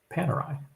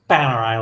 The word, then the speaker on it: Panerai: When it comes to Panerai, which I like to pronounce Panerai like that, like when I say Panama.